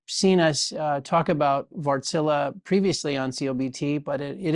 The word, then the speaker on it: Wärtsilä: He's the president and CEO of Vartsilla. Uh we usually have been walking around saying wartsilla, but we're working on our Finnish pronunciation.